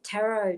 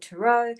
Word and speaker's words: tarot: tarot tea cups and in the u.s some people call it taro some people call it tarratt here in australia we just know it as taro and we don't really pronounce that last t on it and this here is